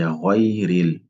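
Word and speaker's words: غَيْرِ: Là aussi, il faut bien prononcer le ra. Souvent, ça pose problème. Donc c'est ghayril.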